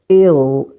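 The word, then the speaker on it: il-: Il, and here it will be pronounced ill. Ill. It is dark L.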